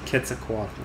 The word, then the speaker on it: Quetzalcoatl: Quetzalcoatl? Yeah, Quetzalcoatl. according to the Wikipedia. According to Wikipedia, the correct pronunciation is Quetzalcoatl.